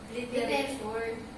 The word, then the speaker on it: literature: Literature. Literature. So, Literature. i-cancel out nyo yung E. Literature. Mhm. Literature. Sabi Tapos yung A magiging E sound.